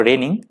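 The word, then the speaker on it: reigning: तो इसका जो पहला वर्ड है वो रेनिंग। रेनिंग यहाँ पे एडजेक्टिव की तरह यूज हुआ है, ध्यान रखिएगा, जी यहाँ पे साइलेंट है, रेनिंग।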